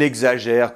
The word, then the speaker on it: exagère: Alors ici, le X entre deux voyelles, on va faire [g] et [z] : . Donc .